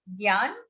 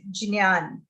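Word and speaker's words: ज्ञान: the gya or jnya, all the three pronunciations are acceptable. Down west, Gujarat, Maharashtra, they'll say Jnya, Jnyan. Down up north, they'll say Gyan. And actual Sanskrit is Jnyan. So all three will be considered correct.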